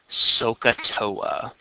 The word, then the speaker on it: SOHCAHTOA: thing that I used to remember it it's pronounced sohcahtoa sohcahtoa oh yeah you said so katoa this